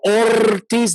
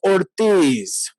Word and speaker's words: Ortiz: And people go, Ortiz. That is not, you don't roll an R. No. You roll a double R, okay? But that is Ortiz.